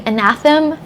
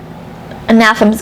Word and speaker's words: Anathem: on um so that anathem's going or in anathem i think is how you are supposed to pronounce it a rich will tell